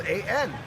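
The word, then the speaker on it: ăn: It's spelled A-N. How would you pronounce that? An. That's it. It sounds like that, though, right?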